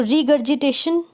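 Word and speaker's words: regurgitation: रीगर्जिटेशन का मतलब उल्टी करना भी होता है, तो रीगर्जिटेशन, जी यू को ग पड़ा और जी आई को ज पड़ा, रीगर्जिटेशन। Luggage, etcetera.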